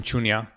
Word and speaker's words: Shunya: Did I pronounce that right? Yes, Mission Shunya.